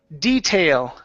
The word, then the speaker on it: detail: Um, uh, next up is detail. Pronounce that L at the end. Detail. Detail. Okay. Almost you're saying detail and you're pronouncing an. You're moving your lips. Remember the L is not a tongue movement or sorry, a lip movement.